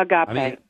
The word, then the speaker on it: agape: start by asking you what what's the preferred pronunciation that you would like is it a gape or oh agape agape all right so the love of jesus